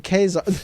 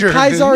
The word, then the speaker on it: Caesar: Uh they can't even pronounce Caesar correctly by saying Kazar. What did you say that? But Kaisar is German.